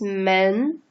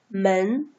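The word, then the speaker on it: 门: a door it's a door see door is pronounced as men men okay men see this are like the frames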